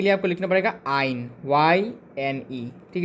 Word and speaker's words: yne: और एल्काइन के लिए आपको लिखना पड़ेगा आइन, YNE। ठीक है, ये वाइन नहीं है, ये आइन है।